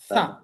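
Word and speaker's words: ث: আমরা এটা খেয়াল করবো এই হরফটার নাম হচ্ছে ছা এখানে লেখা আছে উচ্চারণ সা জুহুবার আগা সামনের উপরের দুই দাঁতের আগা থেকে নরমভাবে আদায় হয়।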